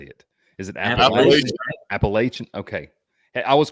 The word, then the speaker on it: Appalachian: Is it Appalachian?